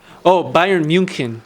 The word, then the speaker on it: Bayern München: Bayern München. That's how you pronounce it. Ooh. Yeah, because I study a little bit of German.